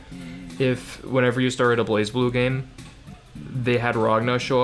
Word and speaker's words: BlazBlue: whenever you started a BlazBlue game they had Ragna show up into a que it's pronounced blazblue not bless blue or whatever you know